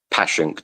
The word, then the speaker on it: Passyunk: It's called Passyunk Avenue or Passyunk, depending on how you pronounce it. Passyunk.